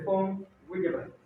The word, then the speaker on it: von Willebrand: Es nombre alemán. En alemán, la V se pronuncia como F. Von Willebrand.